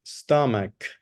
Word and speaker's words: stomach: number 10 EST stomach remember the pronunciation stomach stomach stomach yes with a K stomach stomach very well